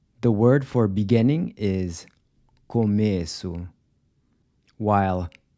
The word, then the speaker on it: começo: The word for beginning is começo, while começo means I begin.